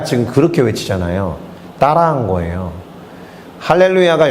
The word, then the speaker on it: 할렐루야: 그렇게 외치자아요 따라한 거예요 할렐루야가 영어니까 원래는 할렐루야 뭐 이렇게 외쳐야 될 거야요 마 발음 기호상 강세가 거기에 있으니까 근데 그 형은 할렐루야 이렇게 해서 야에서 쫙쫙 뻗는게 너무 멋있었어요 그래서 그건 막 따라했습니다